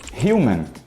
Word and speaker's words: human: No português, o H em início de palavras é mudo. Só que no inglês ele na verdade é pronunciado, com raríssimas exceções. E ele tem som de R de rato. Então falamos human e não human.